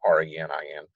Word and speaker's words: renin: think that's what happened but now just go re ni in just know it's an enzyme and it leads